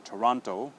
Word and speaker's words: Toronto: the city in Canada Toronto okay so a lot of students will say toront okay and cut that o sound now the difference with